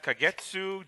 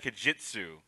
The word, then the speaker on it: Kagetsu: No, you said Kajitsu. It's what- not a and- soft G. Kagetsu! There's no soft G.